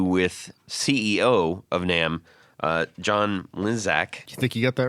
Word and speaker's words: Mlynczak: had that interview with CEO of NAMM, John Mlynczak. You think you got that right? Mlynczak. Check. Mlynczak. Yeah, isn't it? John, exactly how do you pronounce that name? My name is John Mlynczak.